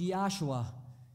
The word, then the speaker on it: Yeshua: in biblical times and its original it was pronounced yeshua modern-day pronunciation would be joshua and the name jesus